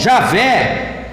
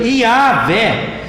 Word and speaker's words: Iavé: Para alguns, Javé, mais conhecido como Jeová. Mas hoje, para os estudiosos do Antigo Testamento, a melhor pronúncia seria mesmo Iavé.